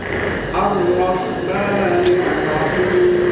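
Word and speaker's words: الرَّحْمَٰنِ الرَّحِيمِ: Mimnya jangan Ar-Rahmanir Rahim, jangan molor ya. Cukup 2 harokat. Silakan. Ar-Rahmanir Rahim.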